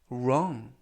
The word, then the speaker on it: wrong: 이번 표현은 wrong 이라고 발음하시면 되겠고요. 이때 맨 앞에 있는 W는 묵음이라서 이번 단어에서는 발음이 되지 않습니다. 그리고 알파벳 O는 발음에 가깝고요. 그래서 wrong 이라고 발음하시면 좋겠습니다.